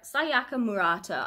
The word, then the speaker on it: Sayaka Murata: have convenience store woman by sayaka murtara sayar sayaka murata i think that is how you pronounce her name i have heard that this